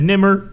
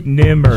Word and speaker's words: Nemr: I just said Nemr. You know, it's a two Nemr. It's two syllables. Nemr.